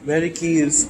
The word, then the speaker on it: Medici: Crunchy di Medicis tomb? Oh. Do you know if I pronounced their name right?